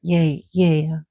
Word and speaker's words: Gaia: like pawn ya which is we pronounce gaia here but yay ya in Greece it's going to it's